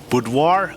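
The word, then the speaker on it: boudoir: I I keep forgetting how to pronounce it. Budoir.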